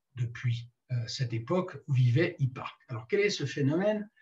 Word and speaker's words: Hipparque: Les signes du zodiaque ont été nommés et établis à l'époque d'un astronome dont je reparlerai, qui s'appelle Hipparque, ça s'écrit H-I-2-P-A-R-Q-E, Hipparque, au IIe siècle avant Jésus-Christ.